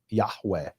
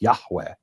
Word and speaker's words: Yahweh: In ancient Hebrew, it's believed it wouldn't have been Yave. It would have been Ya. Yahweh, right? The the H would be pronounced Yahweh.